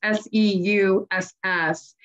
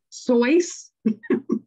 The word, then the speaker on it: Seuss: a german name and in german it's actually sounds like voice so it should be soice americans the american whatever have have changed it so now it's dr seuss and so you can